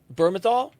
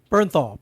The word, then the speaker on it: Bernthal: Burmthal. Bernthal.